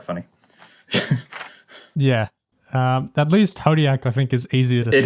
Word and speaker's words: Hodiac: yeah um at least podiak i think is easier it is yes that's true just rhymes with zodiac yeah that's right yeah